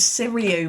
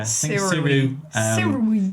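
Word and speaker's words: Sirui: I always thought it was Siriu, but it's not. Yeah. Siru C60X, I believe, is what it's called.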